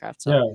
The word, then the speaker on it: Kravtsov: Is that how you pronounce it, Kravtsov?